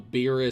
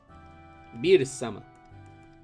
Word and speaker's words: Beerus: you call it the the pun is supposed to be of beers so that's why it's beetus beetus but if you say it with like the japanese pronunciation it can sound like bills abuse beerus i have a